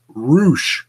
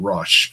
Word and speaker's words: Roush: Gravano guest the debuting roush thing I think I said it properly that time I've been saying rush it looks like rush but they call it Roush they should spell it our double O SH then that's whatever